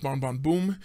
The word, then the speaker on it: Bon Bon Bum: But it's pronounced Bon Bon Boom. So actually, when they export this to America, they change that B-U-M to a B-O-O-M so that people don't get confused.